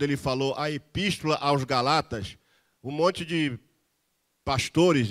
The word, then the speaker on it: Gálatas: o pessoal da Galácia, que na expressão do meu professor João Pereira de Andrade Silva, seria Galatas. Ele disse que quem nasce na Galácia é Galatas. Mas como a palavra Galatas ficou feia na pronúncia, então colocaram Gálatas. Mas o certo seria Galatas, porque um preletor do